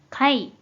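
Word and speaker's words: 貝: 조기폐의 일본어 발음에 관해서인데이 한자는 음으로는 다름이 없고 뜻으로만 카이 카이라고 발음해줘요 그럼이 한자의 대표적인 일본어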